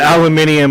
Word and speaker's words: aluminum: stuff about the no aluminum we're talking about aluminum talk about Alum anyone who pronounces it aluminium I don't care what their opinion is about